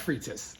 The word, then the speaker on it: frites: I think it's pronounced frites, like steak and fries.